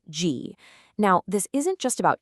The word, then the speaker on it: 机: It's pronounced G.